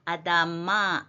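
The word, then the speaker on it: אֲדָמָה: M 밑에 짧은 줄은 강세입니다. 그래서 아담마 이렇게 되죠.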